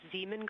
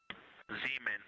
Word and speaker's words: Zeeman: Integrity Science, we believe that's Zeeman Crater. Oh, I floated away from the speaker. Say it again, please. We believe that that is Zeeman crater. Zeeman.